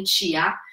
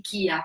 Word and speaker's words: chia: Infatti, il loro nome Chia. Erroneamente moltissime persone li chiamano semi di chia perché è scritto Chia, ma in realtà si legge chia.